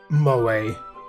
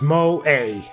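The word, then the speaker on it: 萌え: be considered moe because apparently you hold the e it's mo a i guess you'll maybe pronounce it differently but according to what i read on wikipedia you the the e you hold the e it's a bit longer so there we go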